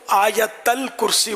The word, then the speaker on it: آیت الکرسی: یہ ہمارے اس کو آیت الکرسی بولتے ہیں، صحیح تلفظ آیت الکرسی، یا بعض حمزہ پڑھتے ہیں آیت الکرسی.